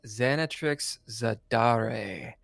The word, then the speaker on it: Xanatrix Zadare: ] today it's the third episode we got xanat Trix zadar did I pronounce that right xanx you did and if